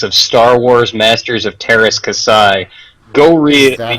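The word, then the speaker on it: Teras Kasi: what Joystiq thinks of Star Wars Masters of Terras Kasai, go read... Is that how you pronounce it? Oh yeah, that's how it's done. I always thought it was Terrakasi.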